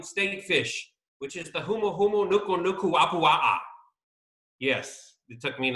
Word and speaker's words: humuhumunukunukuapua'a: it's the Hawaiian state fish which is the humuhumunukunukuapua'a yes it took me an entire month to learn how to say that and practice humuhumunukunukuapua'a there you go so say that one